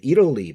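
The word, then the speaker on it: Italy: 얼마 전에 뭐 그 이탈리아가 나왔는데 이럴리 발음이 이럴리거든요. 예. 여기 플래핑 현상 여음 현상이 일어나니까 이럴리 애들이 안 나왔대.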